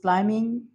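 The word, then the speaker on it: climbing: उसके बाद है सना इज़ क्लाइंबिंग द माउंटेन। तो सना जो है वो पहाड़ पर चढ़ रही है, तो यहाँ पे क्लाइंबिंग में बी साइलेंट है, तो इस पूरे वर्ड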